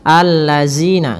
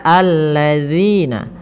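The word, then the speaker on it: الذين: Kemudian pada lafal zina, hati-hati dalam melafalkan zalnya, jangan sampai kita membacanya dengan zina, allazina, enggak, tapi dia alladzina.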